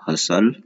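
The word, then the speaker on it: hustle: फिर है हसल बसल, यहाँ पे टी साइलेंट, इधर भी टी साइलेंट होता है, तो इसे कहते हैं हसल और बसल।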